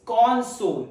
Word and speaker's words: console: The first one is console. The first syllable has stressed.